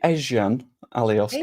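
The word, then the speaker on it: Ezgjan Alioski: How do you even pronounce that? That would be Ezjan Alioski.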